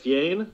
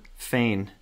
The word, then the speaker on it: feign: Fiane? Feign.